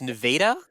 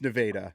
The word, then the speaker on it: Nevada: Well, apparently they pronounce it weird, too. It's Nevada. It's Nevada.